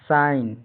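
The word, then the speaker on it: sign: उच्चारण फाइन। अच्छा ठीक जुड़वाना बारीक मिहीन सुंदर उत्तम। सी एस आई जी एन साइन का हिंदी अर्थ संकेत निशान हस्ताक्षर करना।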